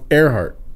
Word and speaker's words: Earhart: But it's pronounced Earhart. Earhart. All right. Right? So her first name is pronounced Amelia with an E, but it's spelled with an A, and her last name is Earhart, pronounced with an A.